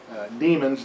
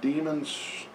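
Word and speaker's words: daemons: They have demons, the D-A-E-M-O-N, the A-E diphthong is pronounced E as in Mycenae, also as in demon.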